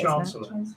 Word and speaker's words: Chancellor: Chancellor.